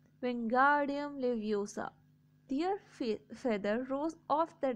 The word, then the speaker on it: Wingardium Leviosa: Wingardium Leviosa, he shouted, waving his long arms like a windmill. You are saying it wrong. Harry heard Hermione snap. It's Wingardium Leviosa. Make the guard nice and long.